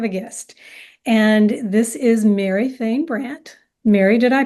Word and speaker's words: Mary Fain Brandt: today I have a guest and this is Mary Fain Brandt Mary did I pronounce that correctly you did good job thank